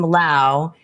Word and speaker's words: Lowe: fellow cinephile Lowe, who pronounces his name Lowe, but is spelled Lowe.